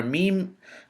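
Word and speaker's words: ميم: and a tongue letter the letter meme on the left hand side is a letter that is pronounced from the lips it is a consonant and it is identical to the letter M in the English language Mary Mike Master monkey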